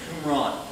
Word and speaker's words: Qumran: They were discovered in caves, actually, around the area called Qumran. That's how you pronounce that, Qumran.